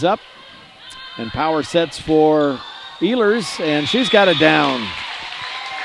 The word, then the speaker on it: Ehlers: And for Addie, we'll call her Ehlers, which is the correct pronunciation. I've watched a couple of our games on other Strive channels. One channel they were calling her Ellers, and another one they were calling her Ehlers.